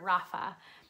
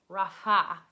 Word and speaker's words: Rapha: it right, but it's Rapha. It almost sounds very similarly, but it just has a little bit more of a huh to it. It's, you know, Hebrew, so you got the huh going.